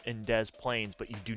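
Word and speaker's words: Des Plaines: then if you go over towards Chicago there's Des Plains you pronounce the s in Des Plains but you do not in Des Moines anyway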